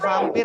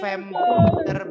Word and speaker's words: vampire: sudah bert nah ini bacanya baru V V contohnya hewan apa vampir bacanya bukan vampir tapi vampire bed coba vampire vampire artinya kelelawar kelawar vampir.